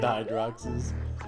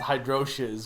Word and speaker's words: Hydrox: they're making Alex Kidd Hydroxes. Didn't he come back, I think? Or he's coming back? Oh yeah, Mario I time. want to go to a world where Hydrox is pronounced Hydroches.